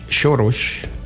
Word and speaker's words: Soros: Esto digamos el señor es un financiero de origen húngaro, George Shoros con la pronunciación húngara, por precisamente utilizar fondos de los Estados Unidos de América.